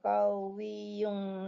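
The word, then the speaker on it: قَوِيٌّ: Innallaha qawiyyun aziz. Iya. Tanwin bertemu dengan huruf ain dibacanya idhar. Innallaha qawiyyun aziz. Qawiyyun, yun dibacanya jelas.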